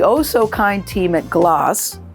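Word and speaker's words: Glace: So the oh so kind team at Gloss rhymes with gloss because it's spelled G L A C E. So don't say glaze or glaze.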